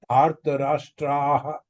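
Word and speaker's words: धार्तराष्ट्राः: But in the last, Dhartarashtraha, when the visarga is there, it should be aha, like this.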